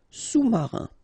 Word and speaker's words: sous-marin: All right, and remember, sous, okay, final S not pronounced, so S-O-U, sous-marin.